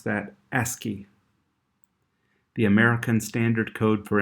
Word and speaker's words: ASCII: We pronounce that ASCII.